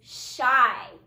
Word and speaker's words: shy: this word is shy again i hear that long i sound at the end of the word so i'm drawing a